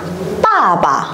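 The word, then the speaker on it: 爸爸: Ở đây chúng ta có thanh 4 và thanh nhẹ. Thì các bạn lưu ý là mình sẽ dồn trọng âm vào âm tiết đằng trước và đọc lơi cái âm đằng sau ra nhá. Lơi như nào? Lơi thì khoảng bằng 1/2, 1/3 dấu huyền ấy.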